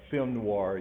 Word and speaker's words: film noir: pronounced fem noise but film noir you've the r is in there you've seen film noir